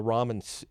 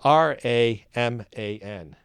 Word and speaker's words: Raman: commented comment is it's it's pronounced Ramen the noodles I okay I guess